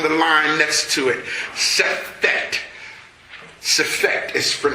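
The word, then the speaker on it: Sefekht: Sefekt. Sefekt is spelled S-E-F-E-K-H-T.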